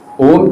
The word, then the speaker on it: ॐ: तो हमने 31 में इस ओम को प्रोनाउंस करना होता है ओ 3 और म एक ठीक है? और दोनों का साउंड हमें आना है।